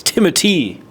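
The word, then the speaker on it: Timothée: and same even with it's not Timothy it's timoy timoy timoy shalom um but he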